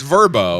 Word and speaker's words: Vrbo: It's not VRBO like I thought it was because I'm an idiot, right?